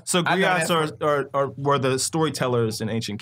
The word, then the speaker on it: griot: We right, we as griots, we as community leaders, hold on. As griot? Black men, griots, you know good and well, can't put, first of all, that got three syllables in it. Griot.